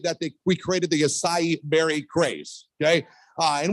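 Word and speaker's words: açaí: they we created the acai berry craze okay uh and we called it the Aki Berry for years because we didn't know how to say it uh so at least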